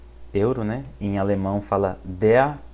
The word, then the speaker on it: Euro: Se fala o euro, né? Então, der Euro. E aí, importante aqui salientar pro pronúncia do EU em alemão, que se fala Oi, né?